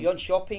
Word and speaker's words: Jönköping: Jönköping, is that pronounced? That's right, it's called Jönköping, that's yes.